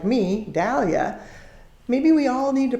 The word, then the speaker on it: Dahlia: second because I see Dahlia most of the time but proper is Dahlia because that's the way the man that named it his name was pronounced Dahlia so those of